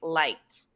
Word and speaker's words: liked: But if you want to be correct and fluent, we want to say liked.